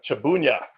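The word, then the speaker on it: Trzebunia: to bloody polish angler his last name is pronounced shabooya shabooya so make sure to get that right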